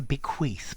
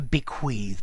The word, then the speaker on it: bequeath: Notice, I think the Americans normally say to bequeath, but to me it's to bequeath, but I think both pronunciations are fine.